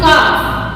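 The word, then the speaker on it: calf: Silent, like C ए एल एफ, we will pronounce it काफ, काफ, this is नॉट काफ, काफ, okay, means बछड़ा या बछड़ी जो होता है।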